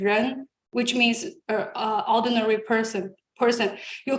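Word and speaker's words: 人: We have a character in Chinese pronunciation ren, which means ordinary person.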